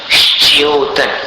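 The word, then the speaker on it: श्च्योतन्: तो यहां पर आचार्य कहते हैं श्योतन, श्योतन, श के स्थान पर मुख को स्थित कर लीजिए और श्योतन ऐसा उच्चारण करना।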